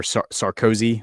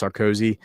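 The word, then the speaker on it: Sarkozy: Or or Sarcoi, I think is how you say his name. Nicholas Sarcoi.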